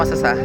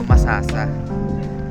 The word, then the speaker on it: Masasa: So yung tamang pronunciation po pag halimbawa kayo turista kayo tapos syempre sasabihin niyo masasa. Mali po. Bilang tagaatingdoy ang proper pronunciation po ng lugar po doun sa beach na yon is masasa. Hindi po masasa.